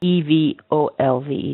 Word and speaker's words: evolved: pronunciation of this one e v o l v e d is it an e or work yeah it's exactly that because it's unstressed in the beginning so it's evolve or and usually when